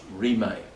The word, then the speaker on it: Rimé: In the 19th century, there was an amazing movement in Tibet called the Rimé movement, R-I-M-E-D, but pronounced Rimé.